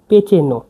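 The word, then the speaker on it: pečeno: ভাজা বা ভুনা ভাজা বা ভুনাকে বলা হচ্ছে পেচেন পেচেন মানে ভাজা বা ভুনা দেখুন পেচেনো পিই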